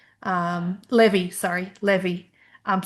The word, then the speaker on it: Levi: So, we were in this little town called Levi. Um, Levy, sorry, Levy. Um, spelled like the jeans label Levi, but said Levy.